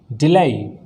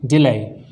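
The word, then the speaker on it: delay: अगले वर्ड की तरफ चलते हैं, डिलाई। डिफाइन, डिलाई, इसको डिले नहीं पढ़ते, डिलाई।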